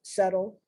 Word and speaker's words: subtle: the word subtle because i wanted to spell it s-e-t-t something like that like settlement subtle but no dumb now we're